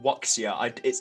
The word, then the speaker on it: wuxia: I keep saying wuxia. I'm definitely pronouncing that wrong. It's basically the genre. It's like WUXIA. Wuxia. I don't know.